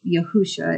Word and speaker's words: Yahusha: It's spelled like Yeshua, but we all kind of agreed in the end that Yahusha is how it should be said and pronounced, and it should be spelled like a name with a capital letter.